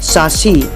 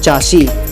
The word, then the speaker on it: chassis: आ गया, सही है सासी और गलत है चासी।